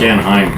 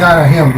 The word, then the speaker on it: Anahim: Not as Anaheim. Not Anaheim, John. I think it's Anaheim. It's ANAHIM, yeah. Okay, here we go again. They prefer to pronounce with the him on it because they get